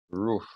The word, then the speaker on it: roof: En este sentido, el techo, roof, sí se pronuncia como si fuera una U, roof.